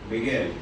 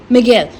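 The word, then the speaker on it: Miguel: नॉट the least don मुझे नहीं पता इस इंसान को प्रोनाउंस कैसे करते हैं मेग जानू एम आई जी यू ई एल को कैसे प्रोनाउंस करेंगे हां मगेल मगेल डॉन मगेल द वॉइस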